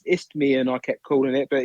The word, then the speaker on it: Isthmian: The league, which I always pronounce this, Isthmian League Southeast Division. Correct. I've said it correct. Good that. And it's only taken me about 6 months to say it properly.